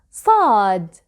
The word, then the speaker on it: ص: To pronounce sad, you can start with the S sound and then you try to lift the back of your tongue.